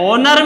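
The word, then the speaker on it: honour: इसी तरह ओनर में भी एच साइलेंट है, ओ का साउंड स्टार्ट हो रहा है, इसीलिए यहां भी हम किसको फिल करेंगे, एन को।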